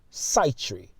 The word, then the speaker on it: Sitri: a character name Prince sea tree also would be pronounced side tree but Prince sea tree